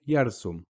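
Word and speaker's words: يرسم: Same with yarsum. Yarsum. Ra sukoon. We're not saying ra, ru, ri. We're just saying yar, yarsum. And on the meme, obviously,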